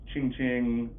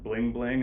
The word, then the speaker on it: Ching Ching: people pronounce that, and you'll get Ching Ching, some people say Bring Bring, and then Fulton says Bling Bling, and people are like, no, there's no L, man.